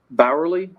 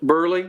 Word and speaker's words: Burley: My notes are that, this is for everybody's knowledge, Deputy Barley, Oh. Burley, I was saying it wrong.